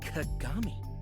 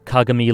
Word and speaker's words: Kagami: a conversation uh yeah I pronounce kagami like Kuroko like they do in Kuroko yeah don't spoil our